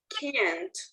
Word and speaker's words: can't: For me, Um, the T is key. Se puede escuchar la T. So you say can't.